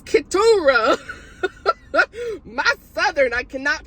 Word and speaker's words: Keturah: Berggren, and I've been saying Keturah. I just said it again. It's Keturah.